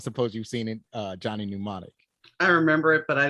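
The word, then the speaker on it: Johnny Mnemonic: the N the m the m is silent or is not exactly silent but it's it's so subtle that you don't have to pronounce it so it's Johnny pneumonic Johnny pneumonic was it's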